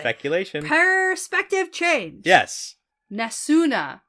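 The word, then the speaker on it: Nesune: speculation perspective change yes nasuna nasuna you gotta pronounce that last uh vowel gotta do it okay yeah that's an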